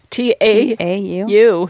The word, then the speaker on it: tau: They're associated with the electron, the muon, and the I don't even know how to pronounce this word. Tau. Ooh, that sounds interesting. I don't know. T-A-U.